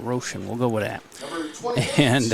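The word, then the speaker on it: Roschen: And for tonight's lineup think it's Roshan is the pronunciation of the pitcher. R O S C H E N Roshan.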